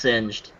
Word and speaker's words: Singed: sing yeah oh it's it's pronounced singed sanjiao doesn't matter what